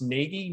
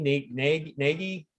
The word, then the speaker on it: Nagy: Yeah, Lance, I was just reffing one of, I don't know if you remember, Jeff, I believe his last name is pronounced Nagy, Nagy, N-A-G.